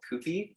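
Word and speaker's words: Kewpie: a brand of mayo called koopie it's spelled k-e-w p-i-e and what's special about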